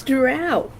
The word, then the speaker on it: drow: But I will stab anybody who tries to say it's dro and not drow because that is just fucking wrong. It's drow.